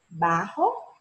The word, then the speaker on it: bajo: O som do J em espanhol tem som de RR. Então, se pronuncia bajo ou barra, sim?